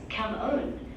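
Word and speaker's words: cảm ơn: That's almost right. It's cam on.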